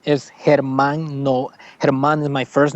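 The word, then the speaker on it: Germán: my middle name uh Herman I don't go by Herman in the States because uh Americans call me German cuz is spelled with a g e r m a n okay so so it's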